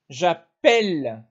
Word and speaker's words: appelle: avec nous et vous la prononciation change un peu j'appelle tu appelles ouvert appel il appelle l appel on appelle nous appelons fermé nous appelons l appel